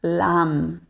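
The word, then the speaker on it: लं: em frente ao peito não esquecer de pronunciar ou a nos bidias mais aberto no sânscrito não existe o e somente o a então será lam vam Ram Yam ham certo então vamos começar Então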